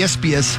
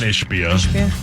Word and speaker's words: Ishbia: We should do some sports because I'm pissed at the Ispias. Is that the right way to say it? Yeah. Ispias? The one Ishbia.